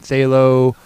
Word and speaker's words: phthalo: a hot mess yeah the pH is silent in say low which makes it really